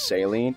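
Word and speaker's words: Céline: just keep it a buck I don't like pronouncing her name is saline I know that's how they say it in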